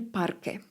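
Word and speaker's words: parque: Centro el parke. Park. Gdy mamy obok siebie q u E, nie wymawiamy litery U.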